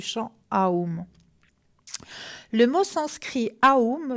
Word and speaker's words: Aum: Le mot sanskrit Aum se prononce comme A-U-M et représente la triple division du temps, état d'éveil, état de rêve et sommeil profond.